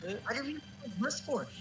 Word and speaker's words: Gliscor: Cass is also on Team Yes, Gliscor. Gliscor is it's the anime official pronunciation.